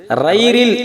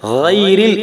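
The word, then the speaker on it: غير: ரைரில் என்பது தவறு, கைரில் என்றுதான் இதை உச்சரிக்கணும்.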